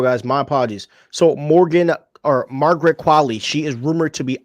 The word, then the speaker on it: Qualley: Is her last name Qualley or Qualley? Qualley.